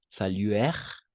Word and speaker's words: saluèrent: Saluèrent le général et attendir, parce que ENT no pronunciamos. Esas ENT no se pronuncian, entonces solo es hasta la R y hasta la R igual.